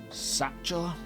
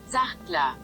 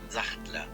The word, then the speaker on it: Sachtler: Another important tripod manufacturer is Satchel. That's definitely pronounced wrong.